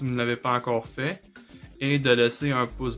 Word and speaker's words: fait: Alors, comme vous pouvez le voir, aux trois premières personnes singuliers, on prononce la forme conjuguée fait. Même si ça s'écrit F-A-I-S et F-A-I-T. On ne prononce pas fesse et fête.